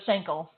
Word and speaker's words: Schenkel: you are real close I usually tell people rhymes with ankle and that's so so shankel got it okay so